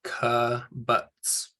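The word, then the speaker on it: קיבוץ: So the actual name of the vowel has the sound that it makes. So Shuruk and Kibbutz.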